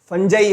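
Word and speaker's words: fungi: Okay, next exception की अगर मैं बात करता हूं तो वो क्या है, फंजाई है, ठीक है, या फंजी, जो भी आपका प्रोनाउंसिएशन है वो आप बोल सकते हो, कोई दिक्कत वाली बात नहीं।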